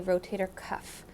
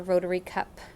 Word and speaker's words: rotator cuff: mentioned before it's a rotator cuff it's not a rotary cup it's not a rotator cup cup or whatever people say it's a rotator cuff that's often often a mispronounced term so and what that